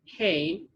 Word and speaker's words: He: This side is pronounced Hey, and the last is Shin.